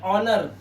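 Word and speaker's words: honour: ओ से पहले आया एच साइलेंट। तो यहां पर ओ है और उससे पहले हमारा एच है। ये साइलेंट होता है। इसे पढ़ते हैं ऑनर। तो ऐसा लगता है जैसे हम एच को पढ़ ही नहीं रहे।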